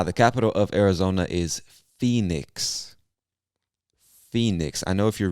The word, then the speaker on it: Phoenix: I know if you're reading it, it looks like Phoenix. I don't know where the origin of that word, I don't know where that word originates. I don't know where it comes from, but we pronounce it Phoenix.